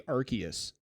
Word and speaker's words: Arceus: out justin for years i thought it was already serious it's actually arceus oh we i i